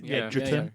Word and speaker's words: Edgerton: And his brother, who is Joel Egerton, is that how you say it? Edgerton? Yeah, who was kind of boring in it.